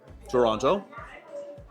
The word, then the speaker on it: Toronto: They don't have time to pronounce all of the letters in Toronto.